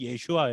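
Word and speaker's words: ישוע: 그 다음부터 제가 됐는데 원래 예수님의 이름은 예 슈와 입니다 히브리 원래 이름은 예 슈아 예요 우리가 영어로는 뒤져서 라고 부르는 것도 원래 정확한 발음 아니죠 우리가 그래도 한국 사람들이 그렇게 히브리 맡아 너의 가장 근접하게 예수라는 못한 단어로 썼지만 정확하게 우리가 필요한 것은 바로 예슈아 입니다 예 슈아가 뜻이 뭡니까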